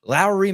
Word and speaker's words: Lauri: the program today to talk about Lowry watch Lowry Markin after I called him Lori Markin for years. Last off season I I figured out how to finally say his name Evan because he was such a hot topic.